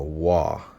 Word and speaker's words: waw: which they use cuneiform, is a wa. I think, let's see, resembling the English W in water.